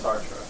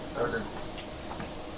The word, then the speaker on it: Sartre: And you guys are familiar with Sartre? Existentialist, French. Usually pronounce it Sartre.